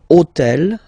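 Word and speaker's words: hôtel: took on purpose this otel okay because it starts with Ash but remember that in French we don't pronounce Ash okay so basically the first sound of the word is the vowel o okay okay so for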